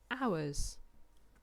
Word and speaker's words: hours: it out so we've got but we don't pronounce that one so we've got ours ours okay in an hour is how long